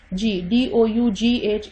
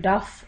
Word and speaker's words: dough: DOUGH is pronounced as dough. It is not the duff or whatever.